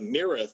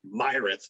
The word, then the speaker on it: Myrath: i did that with the mireth which i used to say it like myrath for the longest time but then i had to think here but you gotta add the m in there hey haken's another one